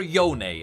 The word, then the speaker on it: Yone: Next I want to talk about Yone, or Yone as Yasuo pronounces it.